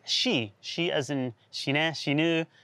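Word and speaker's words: 四: was the number four because in japanese it's pronounced she she as in she knew death exactly right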